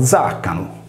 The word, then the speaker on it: diaconum: Nel concreto, la parola latina diaconum, ossia diacono, a inizi di parola si leggeva zaccano, come ancora oggi si pronuncia in sardo nuorese.